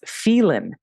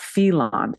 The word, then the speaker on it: Phelan: God okay that his last name is pronounced Phelan not felon thank you very much